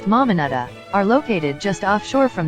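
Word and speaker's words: Mamanuca: and discovering secluded beaches the mamanica islands pronounced mamanada are located just offshore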